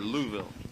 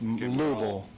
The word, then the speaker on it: Louisville: Louisville or Louisville? Well, you have to say it like you have marbles in your mouth. Louisville.